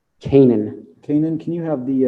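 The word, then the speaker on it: Canaan: having a hard time hearing are you saying caiman kanan kanan can you have the uh the witness spell that name please c-a-n-a-a-n and the last name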